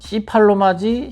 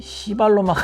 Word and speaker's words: C팔로마: C팔로마지 C발로마가 아닙니다. 발음에 각별히 주의해 주시기 바랍니다.